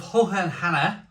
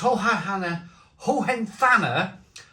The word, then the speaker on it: Hohenthanner: This is a bottle of Hohenthanner. I'll pronounce one of my German brewery names correctly one day. And this is it's Hohenthanner Schlossbrauerei.